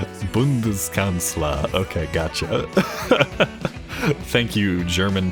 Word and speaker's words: Bundeskanzler: Bundeskanzler.